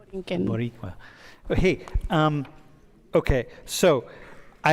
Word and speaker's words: Borinquen: It's spelled a couple different ways, right? Borinquen, it can be with a K instead of the Q and the U. Yeah, Boriquen. Borinquen.